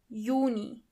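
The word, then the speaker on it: Juni: Yuni. As you know, the letter Y is not pronounced as but as Y.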